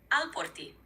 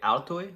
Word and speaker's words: alporti: Alporti means to bring. Okay, altoi, is that right? It's alporti.